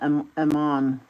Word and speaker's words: Amon: greatly increased his guilt people these days I'll pronounce that Aman but Amon I like how they pronounce it but I like that